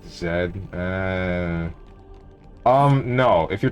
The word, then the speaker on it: Z: guy the final boss his name is pronounced Zed uh um no if